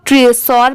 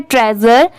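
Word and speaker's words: treasure: बहुत सारे लोग ट्रेसोर पढ़ते हैं बट ये रॉन्ग होगा, इसकी करेक्ट प्रोनाउंसिएशन है ट्रेजर। यहाँ पर TREA इसकी साउंड क्या आएगी ट्रे की, और SURE ट्रेजर मतलब ये स की साउंड ज की आ रही है।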